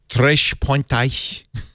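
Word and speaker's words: Três Pontas: I was saying it's Spanish, and it's, of course, Portuguese. It's from Brazil. So instead of the sibilating S, more of a sh. Tres pontas. Tres pontas.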